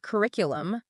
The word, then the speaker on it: curriculum: Like curriculum, they emphasize the stress on the second syllable.